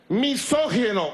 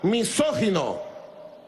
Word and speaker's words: misógino: no dice más nada misógino misógino con acento en la primera voz misógino que odia las mujeres